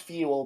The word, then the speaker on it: Fewel: pronounced fuel, but it's spelled like Fewel.